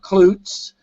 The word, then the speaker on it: Klutts: My name is Klutz, My last name is spelled Klutts, so it looks like Klutz, and that means I've got a lot of personality.